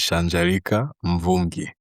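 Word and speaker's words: Shanja Mvungi: So, I'm just going to let you pronounce your name once again. Okay. So my name is Shanger Mongi.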